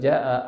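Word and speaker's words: جاء: Kalau ja'a ada mad wajib muttasil dibaca panjang.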